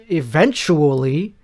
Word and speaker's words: eventually: We'll do a 100th eventually. I love when people add an extra syllable to that word. Eventually. No, it's eventually. Eventually. It's 4 syllables.